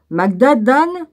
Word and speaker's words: Magadan: Magadan, oui c'est comme ça que ça se prononce, pourrait être le même